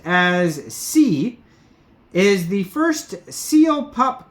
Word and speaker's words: SI: It says SI, pronounced as C, is the first seal pup coin.